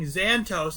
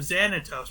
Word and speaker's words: Xanatos: Or when that interview happened where the guy kept saying Xantos instead of Xanatos. Pronunciation actually does matter. Yeah. Right?